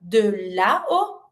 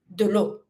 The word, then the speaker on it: de l'eau: So instead of saying de la o, you remove the a from de la and you replace it with an apostrophe. So you go from de la o to de l'eau, which is even more easier to pronounce, it's smoother, it sounds better.